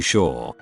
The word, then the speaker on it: Shaw: For example, if I introduce myself to someone, I have to clarify that my name isn't actually Shawn.